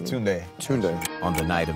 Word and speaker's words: Tunde: Tunde.